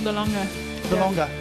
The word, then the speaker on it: De Lange: Chanel Delange, is that how you say it? It's from South Africa, 4 over. Chanel De Lange.